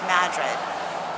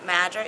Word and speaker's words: Madrid: But yeah, we're going to play a little bit today because our destination ultimately for tomorrow is Madrid.